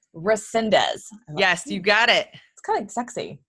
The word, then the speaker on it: Resendez: how do you say your last name correctly Resendez Resendez yes you've got it sexy actually thank you